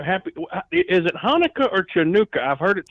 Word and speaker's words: Chanukah: It's Chanukah. Okay. So if you can't say I'm Hanukkah, sorry. you just say pronounce it with an H, not a K.